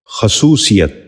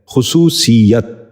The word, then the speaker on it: خصوصیت: اور آخری لفظ ہے خصوصیت۔ یہ غلط تلفظ ہے، درست تلفظ ہے خصوصیت۔ ذرا غور سے سنیے،